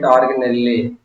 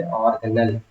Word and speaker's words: organelle: Okay, some people pronounce it organelle. It's not appropriate. You have to say organelle.